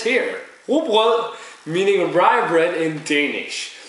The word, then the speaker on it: Rugbrød: Yeah, most Americans says Rugbrød or Rugbrød or something like that. But Danish is very difficult, but it's pronounced Rugbrød.